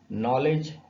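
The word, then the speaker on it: knowledge: नॉलेज, यहां पर भी डी साइलेंट है।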